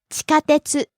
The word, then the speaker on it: 地下鉄: Next, 地下鉄、 subway, 地下鉄、地下鉄、 rising on the second syllable ka and staying high.